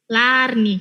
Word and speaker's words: Larnie: If you pay attention to the name, I asked her before this that we have to say it like because of double A, so Larnie, yes.